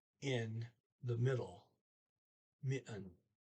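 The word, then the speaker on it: midten: e in the middle mitten there's a dt there in the middle of that you don't pronounce okay and next sentence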